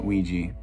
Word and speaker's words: Ouija: course we and ouija unless other people pronounce this differently but i've always pronounced this luigi uh ouija so um yeah uh